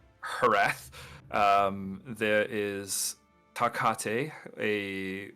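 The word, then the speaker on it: Hrath: His name is spelled H R A T H. Harrath. I will Harath.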